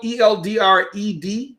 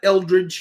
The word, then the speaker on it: Eldred: My name is spelled Eldred. I get a lot of that Eldridge here in Houston because we have a street named Eldridge. And so I blow it